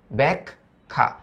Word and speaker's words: ব্যাখ্যা: হচ্ছে দগ উদগ ব্যাখ্যা তার মানে আদ্য স্বরে জফলা এবং আকার যুক্ত হওয়া মানে ওটার উচ্চারণ এর মত। তাহলে এর মত উচ্চারণ যদি দেই তাহলে উচ্চারণটা আসবে ব্যাক। তারপরে হবে খা। ব্যাক খা।